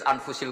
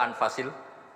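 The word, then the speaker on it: أنفس: Di sini ditulis anfusil kutub, selalu saya baca anfasil kutub karena maknanya kitab terbaik. Kalau kitab terbaik bacanya bukan anfus tapi apa? Anfas.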